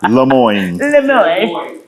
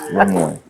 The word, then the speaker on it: Lemoyne: It's the French in us, y'all know me as, but it is the French in us. Yeah, Lemoyne. Yeah, Lemoyne.